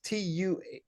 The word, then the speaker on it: Toombs: And by the way, it's pronounced Thums. But I talked with him and said, I've been mentioning your name a couple of times. Let me make sure it's a Tums or Thumbs.